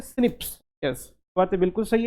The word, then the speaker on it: SNP: SNP को pronounce करते हैं सिप्स।